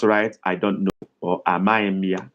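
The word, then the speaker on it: amaghị: Others can just write, I don't know, or Amaimia. Amaim is spelled Amaghi with dot under and M following it.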